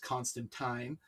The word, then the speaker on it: Constantine: her ex john uh john constantine or tyne as i've learned watching the sandman it's supposed to be pronounced constant time uh that says the